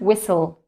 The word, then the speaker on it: whistle: Okay, so as you've noticed, we don't pronounce the letter H, right?